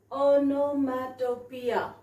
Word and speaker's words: onomatopoeia: have written on nomantopia i have written the pronunciation also see it is onomatopoeia all right so if i see here this